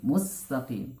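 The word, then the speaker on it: مستقيم: Mustaqim, kata al-mustaqim, pengucapan huruf sin, hati-hati jangan jangan terkesan tebal, ya.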